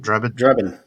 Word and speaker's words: Drebin: Drebin.